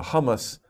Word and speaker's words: hummus: food for you so it's interesting uh uh hummus hu m m u hummus okay that's a